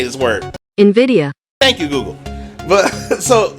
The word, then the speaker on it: Nvidia: Nvidia.